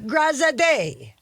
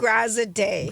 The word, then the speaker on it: Graziadei: And it's Joey Graziadei. Of course, Joey it is. Graziadei. Graziadei. You're going to always pronounce his last name.